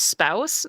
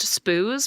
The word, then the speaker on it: spouse: know how to pronounce spouse. They thought it was pronounced spoos because they'd only ever read it.